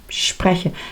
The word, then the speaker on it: spreche: y vemos también que la vocal principal está en medio sprche spreche, pero es cortito. Esto también es importante. El alemán tiene vocales más largas y más cortas. Aquí lo tenemos. es corta porque va seguida de dos consonantes.